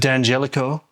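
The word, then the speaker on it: D'Angelico: big gigs Wingardium Leviosa this is a dangelico I know that D is silent I've learned this from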